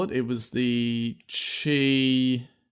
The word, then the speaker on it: Qi: what do they call it it was the chi it's like a new standard for Chi open